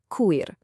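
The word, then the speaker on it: քույր: It's pronounced kuyr.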